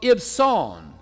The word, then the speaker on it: Ibzan: How do you think you should pronounce that? Ibzan? Anybody else? That's close. Ibson. Ibson, okay?